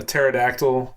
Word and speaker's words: pterodactyl: you can't hear uh pterodactyl use the bathroom oh no it's cuz the p is silent um anyways but Zach